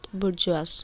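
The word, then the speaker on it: bourgeois: like kind of spelling but uh it is pronounced at burjwas okay so the member of the middle class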